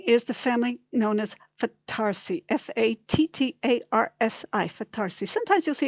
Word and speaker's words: Fattarsi: found really interesting is the family known as fattarsi f-a-t-t-a-r-s-i fatharsi sometimes you'll see it with one